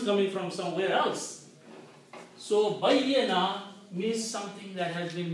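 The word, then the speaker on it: بيّنة: Bayyana. Okay? Bayya. You have to pronounce ya 2 times. Bayyana.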